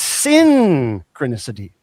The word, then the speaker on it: synchronicity: It's You got to pronounce it right. It's synchronicity.